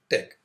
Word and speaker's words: TeX: Tech the extension of the file is Tech although it has the spelling T ex it is pronounced Tech this is the default